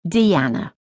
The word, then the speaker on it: Diana: Her name was Diana, but she pronounced it Deanna.